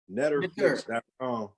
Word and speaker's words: Neterflix: NETERFLIX. All right. X is in xylophone. NETER, like the Netters, right? Henceforth, Netterflix, right? Like the Netter rules, like Nettery, like the nature, Netterflix.